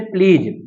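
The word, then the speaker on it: pledge: अब यहां प देखेंगे डी के बाद जी लगा हुआ तो जी क्या कर देंगे आप साइलेंट कर देंगे तो इसे क्या बोलेंगे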